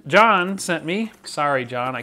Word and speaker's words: Jan: bunch of stuff here Jan John sent me sorry John I keep doing that it's spelled j an but over there it's pronounced John just to clear that